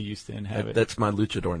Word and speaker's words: luchador: That's my luchador name. Okay. And you pronounced it correctly. It's not Luke, it's Luch. Oh, do people say Lucador?